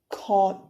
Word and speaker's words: 것: When you're saying 것, you are closing your throat and opening your mouth. 것. But when you're saying 곳, you are slightly, very slightly opening your throat while closing your mouth. So both has different pronunciations.